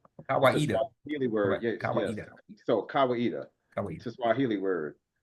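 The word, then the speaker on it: Kawaida: dealing with Kawita rights of passage and it's pronounced Kawita. Kawita word.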